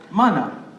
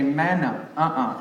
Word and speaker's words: mana: you say this yeah yeah it's it's called mana because the a is pronounced some people see it they say manna it's a special meaning it means strength or